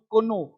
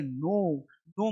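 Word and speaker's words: know: एन से पहले के ये जितना भी के है ना इसको नहीं पढ़ेंगे जैसे के एन ओ डब्ल्यू कोनो कोनो नहीं पढ़ेंगे पढ़ेंगे नो नो नो मतलब जानना और के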